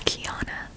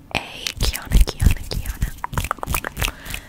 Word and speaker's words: Kiana: My first name, and that's all I'm gonna give you, is Kiana. Kiana. Kiana. It's pronounced like the league champion, or however they call it.